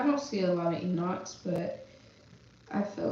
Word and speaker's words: Enoch: And I'm just like, bro, like, how, even, like, Christian people, I'm like, how you could say Enoch in the Bible, But you can't say my son's name, Enoch.